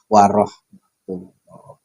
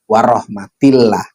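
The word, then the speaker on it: ورحمة الله: Nah, di sini di redaksi kita birahmatillah bukan berarti asalamualaikum warahmatillah tapi warahmatullah. Karena waunya atof di depannya assalamu mubtada rafa yang dibacanya duna wabarakatuhu. Tapi ya enggak usah ada wabarakatuhunya.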